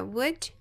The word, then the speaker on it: would: O que significa que essas duas palavras são pronunciadas da mesma forma. Apesar daqui nós termos esse L não vai ser pronunciado. Então, é would, would, would, would.